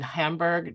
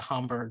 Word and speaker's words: Hamburg: One of the most infamous encounters or moments was in Hamburg, North Carolina. I nearly said Hamburg, but I don't think that the upcountry is particularly German in its pronunciation.